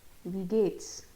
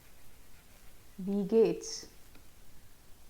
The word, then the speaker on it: wie geht's: जैसे first way of asking this is wie geht's? Wie geht's? Yeah, the pronunciation is this wie should be pronounced like we of English, we, and this is geht's.